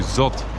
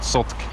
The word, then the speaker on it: Zot: me the line to Zot, that's actually how you pronounce it, not Zotk, that the line to